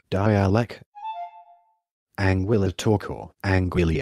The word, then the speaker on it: dialect: and Guadeloupe it is referred to locally by terms such as dialect pronounced die alak Anguilla torkoal Anguilla n'